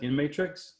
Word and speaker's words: InMatrix: Is that how you pronounce it? InMatrix? Correct, yes.